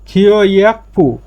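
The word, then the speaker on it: 교육부: খিওয়াকপু মানে যে গিয়কের পরে পটা আসলে, বিউপ আসলে এর উচ্চারণ প হয়ে যাবে, সাং বিউপের প হবে, প উচ্চারণ হবে, এই জন্য এর উচ্চারণটা হচ্ছে খিওয়াকপু শিক্ষা মন্ত্রণালয়।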